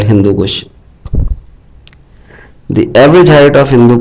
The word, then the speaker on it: Hindu Kush: Hindu Kush range is pronounced by some people as Hindu Kush, but its correct pronunciation is Hindu Kush. Kush is an Urdu word as it is used in some phrases as Khud Kush.